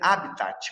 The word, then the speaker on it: habitat: Escreve habitat, mas a pronúncia é habitat.